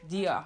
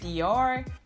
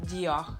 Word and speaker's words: Dior: Dior. So it's not Dior because the R is back in the throat, but it is actually Dior.